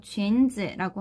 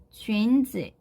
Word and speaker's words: 裙子: 자, 근데 발음하실 때 조금 주의하셔야 되는 단어예요. 앞에 있는 이 쥔이라고 하는 글자가 유라고 적혀져 있긴 하지만 우로 발음이 되는 게 아니라 원래 이 글자는 유땡땡 발음이죠. 그래서 으로 발음되는 거에 주의를 해주시고요.